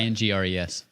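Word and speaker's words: Ingres: to say his name it's spelled i-n-g-r oh yes oh yes her ain't i don't know if i'm saying it right yeah i ngres it's definitely not pronounced how it's spelled so great artist great artist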